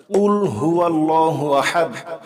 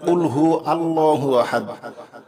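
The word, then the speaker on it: قُلْ هُوَ اللَّهُ أَحَدٌ: আহাদ কুলহু আল্লাহু আহাদ অবশ্যই গলার ভিতর থেকে কুলহু আল্লাহু আহাদ সঠিক উচ্চারণের সঠিক অর্থ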